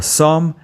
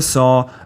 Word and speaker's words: sont: in suis, est, or sont, and you don't pronounce the final t in est, or sont.